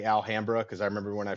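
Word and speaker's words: Alhambra: which is near here and that's how they pronounce it here is alhamra sled where's here where's here for listeners oh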